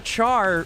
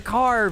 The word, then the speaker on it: char: therefore gif just like it's not a char variable it's a car variable you don't say character